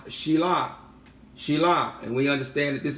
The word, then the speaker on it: Shiloh: The scepter, the Shabbat shall not turn aside from Yahudah, nor an inscriber from between his feet until Shilah, falsely pronounced as Shiloh, more accurately pronounced Shilah, and we understand that this is an epithet of the Mashiach.